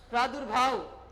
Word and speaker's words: प्रादुर्भाव: आगे लिखो आप प्रादुर्भाव, प्रादुर्भाव, प्रादुर्भाव तो रा का उच्चारण दू के बाद में तो रा लगेगा,